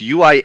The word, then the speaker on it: Uinta: It's Uinta, okay. And it is literally pronounced exactly like how it looks, which doesn't make any sense. The U you actually say, and then it's Inta.